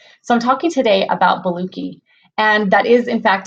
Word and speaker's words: Boluoke: have certain conditions so I'm talking today about Bellucci and that is in fact how you say